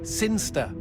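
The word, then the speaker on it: Cirencester: the boring town of siner sester sinster what it's pronounced sinster how do you know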